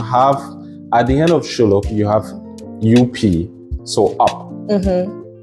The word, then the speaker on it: SHULLUP: I know people have different pronunciations. Some people will say SHULLUP. I don't know. I would have gone SHULLUP. It sounds more like shut up, but it is SHULLUP.